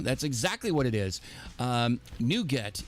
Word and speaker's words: NuGet: NuGet is spelled N-U-G-E-T. It's sort of a takeoff. The Chocolatey portion is a takeoff of that, where NuGet could also be spelled as N-O-U-G-A-T, which is what you